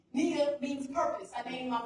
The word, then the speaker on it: Nia: speaking SW and that the i in Nia is pronounced like an e Nia means purpose I named